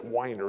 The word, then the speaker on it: Weiner: guy's last name he's he spells it Weiner but he says it's whiner it doesn't look like wine or wine or smell to me whi NER right Erica will give him